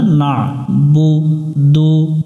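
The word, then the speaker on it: نَعْبُدُ: না পড়া যাবে না না বুদু না বুদু না বুদু এটা কয়েকবার আমরা পড়বো আইনটা সুন্দর করে গলার মাঝখান থেকে উচ্চারণ করে ইয়াকা নাবুদু ই মিলবে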